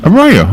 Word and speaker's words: Arroyo: you passed the title you pronounce it Arroyo Arroyo okay so yeah right so yeah it's Spanish for dry wash but by the time